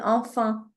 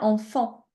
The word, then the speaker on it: enfant: Des fois quand tu le prononces, tu dis enfin. C'est bien enfant.